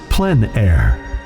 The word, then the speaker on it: plein air: podcast with Eric Rhodes publisher and founder of plein air magazine in the plenary podcast we cover the